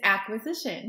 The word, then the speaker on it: Acquisition: It's acquisition. Okay, yes. I wasn't sure it was like AC because it's your initials, or if it was just a cute way to write acquisition.